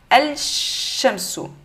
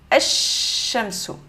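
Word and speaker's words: الشَّمْسُ: On va dire le lam, on va venir le supprimer. Donc, on va dire alif directement vers la lettre avec shadda. Donc, on va dire ash-shamsu.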